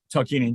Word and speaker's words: Tarkanian: I think his name is, oh goodness, I'm going to pronounce this wrong. Tarkanian? Tarkanian, yeah.